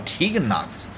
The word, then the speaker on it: Tegan Nox: Oh, Tegan Nox. I was pronouncing her name wrong all this time.